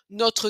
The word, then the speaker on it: notre: Mais si vous voulez pas prononcer le E, notre cadeau, ça c'est difficile à dire, donc on va carrément enlever le R aussi, notre cadeau.